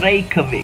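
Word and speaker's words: Reykjavík: I actually learned. That's how you say it. Reykjavik. You have to roll the R's too. You say rrr. That's something that Icelanders and Hispanics have in common. You gotta roll that R.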